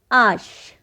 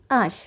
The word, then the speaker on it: H: voyer so let's start vowel h in english but in french we pronounce it ash now here are some examples of the last vowel in french that is ash the letter h in